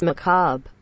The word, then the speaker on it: macabre: dumb it is pronounced macabre i'm sorry macabre do you guys know